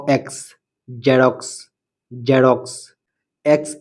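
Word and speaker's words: Xerox: E xylem xylem x ই আর ও এক্স জেরক্স জেরক্স এক্স ই এন ও এন জেনন জেনন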